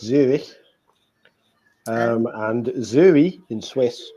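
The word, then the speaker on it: Zürich: Zurich, which in German is pronounced ever so slightly differently because it's Zurich.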